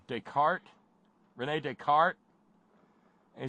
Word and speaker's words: Descartes: my buddy did and pronounced his name disc our case and it went through me it went through me like a dose of salts and I said you mean Descartes Rene Descartes he said